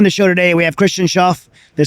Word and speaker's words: Christian Schauf: Is Uncharted Supply Company, and on the show today we have Christian Schauf.